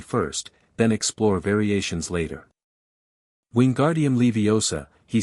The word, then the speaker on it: Wingardium Leviosa: Harry heard his muttered "Wingardium Leviosa" becoming more aggressive with each failure. "You're saying it wrong," Hermione told him. "It's Wingardium Leviosa. Make the gar nice and long."